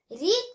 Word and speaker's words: read: अगर वर्ब की third form हो वही रीड आएगा, पर उसका प्रोनाउंसिएशन रेड हो जाएगा। READ रीड तो हो गया, जो वर्ब की फर्स्ट फॉर्म में यूज करते थे वर्ब की थर्ड फॉर्म में भी यही यूज हुआ है, पर इसका प्रोनाउंसिएशन जो है वर्ब की फर्स्ट फॉर्म में रीड था और वर्ब की थर्ड फॉर्म में रेड है, रेड।